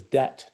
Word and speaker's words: debt: a famous example is debt dbt t which comes where the b is not pronounced and I think in